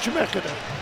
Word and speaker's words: Chemeketa: Did I pronounce that correctly? No, you didn't. Okay. I knew I'd screw it up. It's all right. Give it to it's me. hard to do. Give it to me. Just Chemeketa.